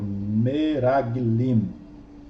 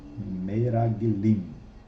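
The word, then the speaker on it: מרגלים: Toda palavra que tem dois Shevás, o primeiro é Shevá simples, o segundo é mudo, correto? Então eu tenho Meraglim, Meraglim, Meraglim.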